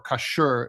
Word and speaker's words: Kashgar: And then Kashgar or Kashgar, it's just how they pronounce it in parts of China.